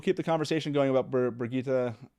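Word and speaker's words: Birgitte: the conversation going about burgeeta i would say brigitte brigitte it's pronunciation uh no thank you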